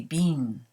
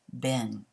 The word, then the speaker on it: been: which has been and notice my American pronunciation of the word been in Great Britain they say being and that makes sense considering the spelling but in the US we say Ben let's look at some